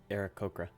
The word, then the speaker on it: Aarakocra: A large bird-like creature, an how do I pronounce that? Aarakocra.